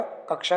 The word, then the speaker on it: कक्षा: भी प्रश्न नंबर तीन कक्षा शब्द का शुद्ध उच्चारण है तो किस तरीके से लिखा जाएगा कक्षा को राइट उत्तर ऑप्शन सी है कक्षा देखि